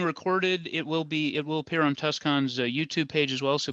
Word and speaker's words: TusCon: And if we can help with anything, if your Tucson becomes, I don't know how you pronounce it, TusCon. Tucson. Yeah. The convention is TusCon, yeah. Yeah, TusCon, if the convention comes